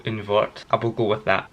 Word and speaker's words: Un Wort: it, oh my god, Un Wort? I think that's it. In Germany they pronounce the W's as V's, don't they? So Un Wort.